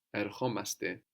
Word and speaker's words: ερχόμαστε: So we add omaste and we accent the o. We're actually accenting the ending here. Ερχόμαστε. Ερχόμαστε. We don't do that with έρχομαι, no, έρχεσαι, no. Accent the ending.